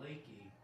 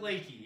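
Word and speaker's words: Leakey: Never ever say, oh, you live in Lakey. Not good. You want to pronounce it Lakey, even though it looks like Lakey.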